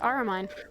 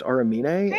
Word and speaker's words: Aramine: So, I want to make sure your character's name is pronounced Araine, right? Yes. Aramine. Okay. Cuz I keep thinking your name is pronounced Aramina, and I I keep It's okay.